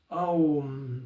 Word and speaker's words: Om: So it's pronounced Om. And usually the last syllable, the sound, is drawn out.